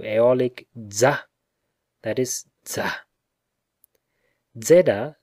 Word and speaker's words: zeta: za that is za zeda therefore which is shown by prosody to be a double consonant must certainly be pronounced as that means d with a soft s when in the aeolic